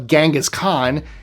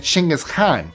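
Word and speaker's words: Genghis Khan: So, he would not have called himself Gangghaskhan. His name would have been Chingis Khan. That's how it's pronounced in Mongolian.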